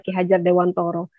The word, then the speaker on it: Ki Hajar Dewantara: dulu dosen filsafat bilang-bilang tulisannya memang Ki Hajar Dewantara tapi penyebutan data pelafalannya adalah kihajardewantoro dia akan terlihat jelas bagaimana orang Jawa dan bukan orang Jawa ketika melafalkan nama kihajardewantoro kihajardewantoro ini memandang pendidikan